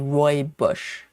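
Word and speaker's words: rooibos: But it's uh it's spelled that reads like Roy Bush.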